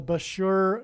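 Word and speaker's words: Bushehr: it will bomb the Bashur nuclear power plant and Bashur rhymes with Barker it is predicted that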